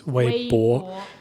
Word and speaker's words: Weibo: Yeah, so you can hear when Elaine says Weibo, she says Weibo. So it says bo, but it doesn't sound like Taobao. It's a different sound.